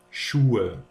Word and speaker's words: Schuhe: It is pronounced Ö. For example, ich sage, ich mache, Schuhe, Jacke.